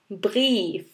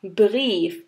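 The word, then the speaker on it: Brief: এটা আসলে আই আর ই একসাথে হলে আমরা প্রোনাউন্স করি ই হিসাবে। আই আর ই একসাথে থাকলে এটার প্রোনাউন্সিয়েশন হবে ই। আর এখানে একটা এক্সাম্পল, যেমন ডেয়া ব্রিফ, ডেয়া ব্রিফ।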